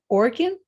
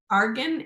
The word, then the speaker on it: Argan: nice nice option um is that now organ Argan a r g y That's Another One People a r g a r g n yep um I've seen